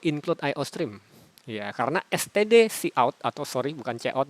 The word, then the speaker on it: cout: std, tulisan seperti ini, titik dua, kemudian ini bacanya cout. Ya, C, huruf C-nya di depan dibaca C, kemudian out.